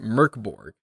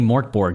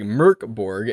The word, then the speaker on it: Mörk Borg: It's got an umlaut, which is pronounced like Mörk Borg, and that means in Swedish dark fort.